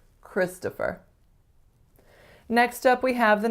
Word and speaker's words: Christopher: I think the biggest trick is that most speakers of North American English are going to make that second syllable what? Christopher. A schwa. And oftentimes I don't hear Christopher, I hear Christopher or Christopher or something similar. So strongest syllable is the first, Chris, to, and then fur.